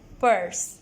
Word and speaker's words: purse: This is purse. ये पर्स है. So let's spell it.